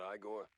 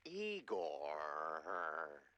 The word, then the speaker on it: Egor: Egor, not Igor? No, Egor.